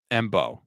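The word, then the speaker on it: Mbow: Mbao from Purdue. Let me see. Bao like bow and arrow. Oh, Bo. Marcus Mbo from Purdue.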